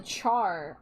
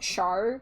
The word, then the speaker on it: Char: And originally, I was going to pronounce it char like Charlotte, but then I heard somebody, it was my friend Cena, pronounce it like Char, like Charmander, and that's why that stuck.